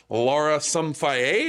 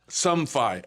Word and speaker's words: Somfai: players coming up here after the break here, Lara Somfai. Is that how you say her name? That's pretty close. I better get it right. Let's double check with her, but I've been going Lara Somfai. Somfai.